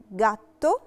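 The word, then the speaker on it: gatto: جاتو، جاتو نطقتها ج جي دورا علشان جي وراها لا فوكالي ا، فبنطقها جي دورا.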